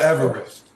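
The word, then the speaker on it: avarice: Circle of Everest.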